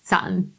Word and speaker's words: Saturn: there's gonna be on how i pronounce saturn like yes grammar police i know there's a t in the middle of it but it's my accent but it wasn't until